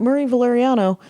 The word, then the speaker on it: Marie Valeriano: low on 15 years I get his name mispronounced regularly but Marie valeriano the road story's podcast